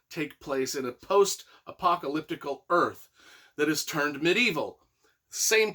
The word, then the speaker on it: Urth: he just wanders earth now it's called earth but it's spelled u r t h like that it's an